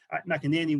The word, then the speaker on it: McEnany: Now, this is from Seamus McEnany, or McEnany, I think preferably in the Sliabh Aughties. McEnany would be the pronunciation.